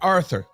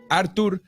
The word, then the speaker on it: Artur: people call him Arthur it's not Arthur there is no h is strictly Artur beterbief that's the correct